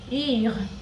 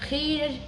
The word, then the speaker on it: rire: So it's rire, rire, not rire or rire, no, it's like starting from R, then E, then R.